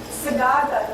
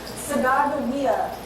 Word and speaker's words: Sacagawea: The J in Sacagawea's name was an error. But it's an error that has caused people to mispronounce her name for the last over 200 years. Sacagawea is a Hidatsa word for bird.